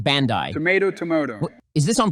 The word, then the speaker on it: Bandai: connected to the internet my understanding is that Bandy Namco did that so they can do patches it's pronounced Bandai tomato tomoto is this on purpose anyway I